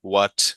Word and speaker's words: what: So for these five words, who, what, when, where, why, generally stress the W pronunciation more than the H. The H is generally silent. So yeah, so next time just who, what, when, where, why, you